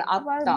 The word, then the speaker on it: আত্মা: ব্যঞ্জন বর্ণের নিচে ফলা হলে সেই উচ্চারণ, ব্যঞ্জন বর্ণের উচ্চারণ একটু সানুনাসিক হয়ে যায়, চন্দ্রবিন্দু দিয়ে বলতে হবে। যেমন লক্ষ্মীপুর, হ্যাঁ, যেমন আত্মা, ভালো বুঝলাম না।